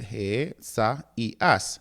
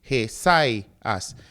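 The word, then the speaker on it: Ἠσαΐας: Notice that this word consists of four syllables. He- You have the he- sa- i- as, not three he si as, because you were already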